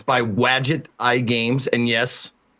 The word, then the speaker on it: Wadjet: It's like it's Wadget like Gadget. So it's WADJET is how you spell it.